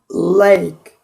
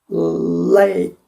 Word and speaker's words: lake: 그래서 마찬가지로 여기도 L 아까 그렇게 강하게 혀끝이 저 부분에 꼭 닿아서 힘을 주어서 공기가 양쪽으로 터져 나가는 걸 느끼면서 하는 거예요. lake, lake 이겁니다.